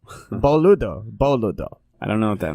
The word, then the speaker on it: boludo: In Portuguese, we pronounce it as no hablo beludo. Boludo.